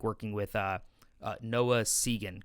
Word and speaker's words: Segan: what that experience was like working with Noah Segan, correct? Is that the pronunciation?